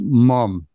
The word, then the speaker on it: ma'am: It's always M-A-A-M, and it's always pronounced mum.